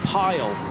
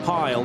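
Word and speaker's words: Pijl: The I and the J I'm always told by Dutch friends is pronounced with a Y in English. So let's go with Dan Pile.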